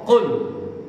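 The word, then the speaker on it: قل: kul ini pakai kaf Tapi pakai sini ada huruf qaf. Qul. Jadi di sini qul. Apa bedanya? Kalau pakai huruf kaf ini maknanya makan gitu ya. Pakai kap. Tapi pakai qul katakanlah. Jadi beda jadinya dari makna. Jadi makanya harus makhrajul huruf keluarnya huruf dari mulut kita harus benar. Qul bukan qul.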